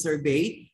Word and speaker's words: sorbet: We have here the sorbet, okay, or sorbet, pero you pronounce it sorbet.